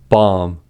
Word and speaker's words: bomb: First, B is not pronounced after M at the end of a word. These are examples: limb, plum, numb, crumb, dumb, comb, bomb, thumb, climb, tomb.